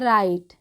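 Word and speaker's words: write: ई इसको पढ़ते हैं राइट डब्लू है लेकिन हम इसका उच्चारण नहीं कर रहे हैं यहां पर दोनों रंग में और राइट में दोनों में ही डब्लू जो है वो साइलेंट है ठीक है तो इसका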